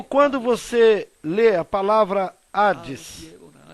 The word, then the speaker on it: Hades: H, ocasiones, que aparece algumas vezes sem serem pronunciadas. como cuando se lee Como quando você lê a palavra Hades.